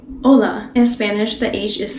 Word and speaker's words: hola: so you wouldn't say oh la that's not the way to go in spanish keep the vowels pretty short hola that is how you